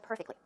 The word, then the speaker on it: perfectly: is the pronunciation of perfectly perfectly where does the stress go it goes on the first syllable perfectly perfectly but you